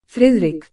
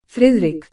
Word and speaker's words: Friðrik: I think it's fic you don't hardly say the D it's sort of a soft rolling D with that little line through it let me give you the Google pronunciation frck frck FR Fric frck olafson